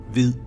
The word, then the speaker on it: hvid: In Old Norse, white is pronounced hvitja, and in Danish it is pronounced hvid.